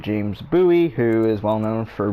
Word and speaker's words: Bowie: that's how you say it's buoy not bowie not like david bowie though he was a good musician it's bowie like a buoy you know you got